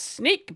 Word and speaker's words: Snyk: This is from a site called SNYK, I assume it's pronounced sneak, but I'm not sure, how Clinejection turned an AI bot into a supply chain attack.